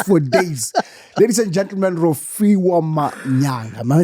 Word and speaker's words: Rofhiwa Manyaga: Ladies and gentlemen, Rofhiwa Manyaga. Am I saying it right? Very right. Down, Rofhiwa Manyaga.